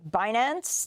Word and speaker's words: Binance: You pronounce it Binance.